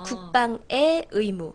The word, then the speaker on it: 국방의 의무: 아 그래요 그 중 소유격 조사 의는 애로 발음을 하시는 거예요 아 그렇구나 응 국방의 의무 엄마의 가방 나의 사과 아 그래요 그렇다고 해서 앞에 오는 의를 애로 발음하시면 안 되죠 의사예요 애사 아니고요 아 그런데 뭐뭐의 할 때 이렇게 소유격 할 때는 에로 발음하는 거예요 국방의 의무가 아니라 국방의 의무음 그러면 부드럽게 이야기가 되죠 그 몰랐다 진짜로 그죠음 그래서 하실 때 국방의 의무라고 하시면 되고요 그다음 신경 써 주실